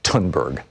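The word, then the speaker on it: Thunberg: the the th in in German and in Swedish is pronounced like a hard T so thus my name in in German is and her name is tunberg remember ya done burger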